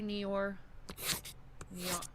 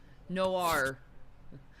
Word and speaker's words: Noir: Thank you, LA Neor. I said it wrong. Noir.